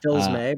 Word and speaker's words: Fils-Aimé: Pronounced Fils-May, but Phil's anime.